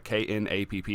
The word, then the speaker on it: Knapp: His name is Drew Knapp, uh K N A P P. I'm assuming the K is silent, so Knapp.